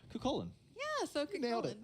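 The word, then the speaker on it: Cú Chulainn: makes me sweat because I know I never pronounced the name correctly. Cucullin. Yeah, so nailed it. Cucullin.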